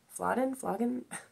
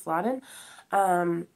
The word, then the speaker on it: Flodden: Flodden? I might be saying it wrong. I think it's Flodden.